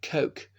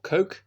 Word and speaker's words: Coke: of the King's Bench Lord coke or Lord cook some people pronounce it in the early